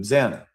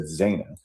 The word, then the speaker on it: Xana: However, she mispronounced Xana and said Zayna.